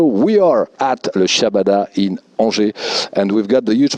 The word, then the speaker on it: Angers: And first time in, how you pronounce the Angers? Angers, okay.